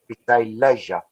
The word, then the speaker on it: leisure: strange like it's like it rhymes kind of like you got pleasure leisure yes i will do